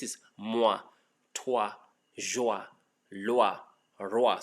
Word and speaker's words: roi: So this is moi, toi, joie, loa, roa. So when you have ROI, ROI is not a Roy, it's El Roa. It's Roa, Roa, okay?